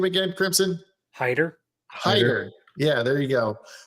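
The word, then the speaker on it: Heiter: Hider.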